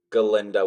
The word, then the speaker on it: Galinda: have never thought that galinda was going to be the well at the time the silent the g is silent in honor of Dr